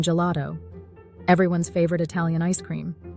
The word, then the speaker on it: gelato: behaves similarly to see when followed by e or i g is soft and sounds like J as in gelato everyone's favorite Italian ice